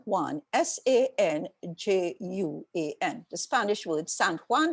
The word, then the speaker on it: San Juan: Sanjuan, the Spanish word San Juan, like in Puerto Rico, right? We pronounce it San Juan as if it's a French word, which is weird.